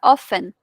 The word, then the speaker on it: often: Tenemos often, que esta palabra, aunque se escriba often, se pronuncia often, sin la T, como que la T es muda.